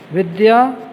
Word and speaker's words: विद्या: यहाँ हम आपको बता दें ये विद्या नहीं है, ज़्यादातर बच्चे और बहुत सारे लोग इसे गलत उच्चारण करते हैं। विद्या, विद्या, आधा द और या बोलेंगे, विद्या।